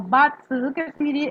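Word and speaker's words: Bazi: Esto van a ver que se escribe de esta forma, Basti, pero se suele pronunciar como Batzel, que serían 8 caracteres, que es lo que vamos a ver ahora.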